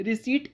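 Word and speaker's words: receipt: रिसीप्ट इसलिए pronounce किया जाता है इसमें क्योंकि इसमें पी साइलेंट होता है।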